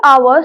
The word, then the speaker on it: hour: such words like power now I am writing hours starting with the with the alphabet H but how am I pronouncing it hour the first word which is